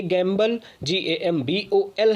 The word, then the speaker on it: gambol: सो ये गैम्बल GAMBOL है और वो GAMBLE होता है। सो स्पेलिंग में डिफरेंस है, प्रोनाउंसिएशन दोनों का ऑलमोस्ट सेम ही होता है।